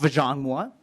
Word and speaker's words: Vajong Moa: I was here last year, I believe, and my name was a challenger, but it's pronounced Vajong Moa, and I'm the Director of Health Equity Advocacy at Blue Cross and Blue Shield.